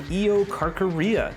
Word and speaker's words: Eocarcharia: This first one, I believe, is pronounced the Eocarcharia.